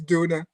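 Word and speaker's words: döner: Well, yeah, it's they even have their own pronunciation of doner. It's duna, duna.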